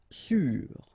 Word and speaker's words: sûr: Sûr. Sûr. Okay, even if you get this accent circumflexe, you don't pronounce it, so you get the same pronunciation, sûr and sûr.